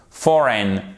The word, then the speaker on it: foreign: une combinaison de voyelles, elle est prononcée comme un E atténué. Foreign, N, et pas, du coup, c'est pas ain. Vous voyez, c'est un son atténué.